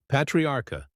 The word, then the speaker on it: Patriarca: The Patriarca crime family, Patria Arca, Italian pronunciation, Patriarca, also known as the